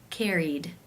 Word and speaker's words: carried: Since it is a vowel, it must be case 2, where the ED is pronounced as the D sound. Carried, carried.